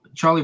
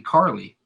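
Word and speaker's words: Carlie: was it Carly bro Charlie Bravo Carly Bravo pronounce his name I'm not sure I don't because there's no h for Charlie so it's Gotta Be Carly c-a-r-l-i-e I mean that sounds like Carly yeah weird name but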